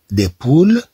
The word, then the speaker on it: poules: S ولكن عندما نقول des poules alors là on ajoute un S on ajoute un S إذا في هاد الحالة نضيف S mais qui ne se prononce pas والتي لا تنطق للدلالة